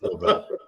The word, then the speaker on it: Dobel: But it's spelled Dobel, but it's pronounced Dobell.